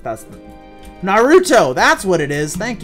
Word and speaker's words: Naruto: that's an anime Narito oh it's Narito no it's Naruto how do you how